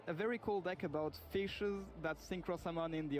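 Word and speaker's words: ghoti: is pronounced the O in women is pronounced E, and the T-I in nation is pronounced sh, then Gori is just pronounced fish.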